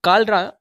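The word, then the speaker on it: cholera: इसी तरह आप कालरा, जिसका माना होता है हैज़ा, और इसकी स्पेलिंग आप देखेंगे तो इसमें आपको सी के बाद एच नज़र आएगा और इसका तलफ़्फ़ुज़ किससे किया जाएगा, काफ से किया जाएगा।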